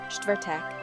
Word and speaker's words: čtvrtek: Čtvrtek, čtvrtek. This one's a mouthful. Break it down. Čtvrt is a single sound, then eek like Beck without the B. Take your time with this one.